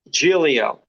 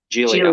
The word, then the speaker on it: Giglio: Giglio. The second G is silent. Giglio.